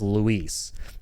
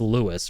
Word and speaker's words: Luis: 4 the original right I started saying his name as Luis and then I heard Leon pronounce it and I was like wait am I saying it wrong okay maybe it's Lewis right because Leon kept saying Lewis Lewis you know when